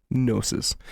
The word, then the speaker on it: gnosis: It stands for unverified personal gnosis, but the G is silent. Gnoses.